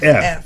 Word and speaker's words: Pfaff: It's Pfaff. That's right. That's it. So the P is silent.